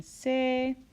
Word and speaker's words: Se: ends with an E the new solfege syllables end with the letter e which makes the sound a so T became teh LA became lait soul became say me became May and Ray which is